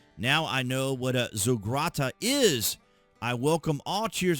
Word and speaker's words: zaghrouta: Now, when I looked it up for the pronunciation, it was pronounced Zaghrouta.